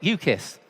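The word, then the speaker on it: UCIS: category unregulated collective investment schemes or I pronounce it you kiss because very often you kiss your money goodbye with those secured energy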